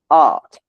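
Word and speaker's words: átt: A accent T T, probably pronounced something like art with a long A.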